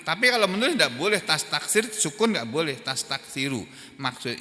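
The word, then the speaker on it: تستكثر: fi'il mudhor marfu ini tastaksiru bukan tastaksir membacanya tastaksir tapi tulisannya tastaksiru nih kalau ini tulisannya maupun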